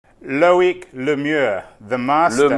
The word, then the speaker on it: Loic: known each other for such a long time, you could at least know how to pronounce my name. Just call me Loic, thanks.